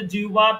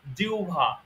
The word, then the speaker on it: জিহ্বা: কিসের ব্যায়াম শিখবো আমরা আচ্ছা অনেকে আমরা জিহ্বা বলে থাকি জিহ্বা না ওটার শুদ্ধ উচ্চারণ হলো জিউভা শুদ্ধ উচ্চারণ কি জিউভা আমার সাথে বলেন জিউভা